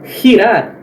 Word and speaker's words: girar: Antes de E e I, galera, ela se pronuncia como se fosse o R dobrado aqui do português. Ri. Então, por exemplo, na palavra girar, girar, girar.